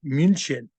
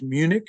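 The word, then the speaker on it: München: stutgart stutgart Bayan Bayan Capital munin munin so in English it's Munich in German it's munin and you see it's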